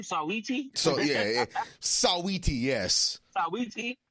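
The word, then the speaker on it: Saweetie: Sawiti?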